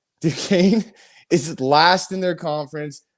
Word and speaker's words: Duquesne: good at pronouncing words mccain is it duquesne you just yeah duquesne du kane is last in their conference they're on a 12-game losing streak they're one and 12.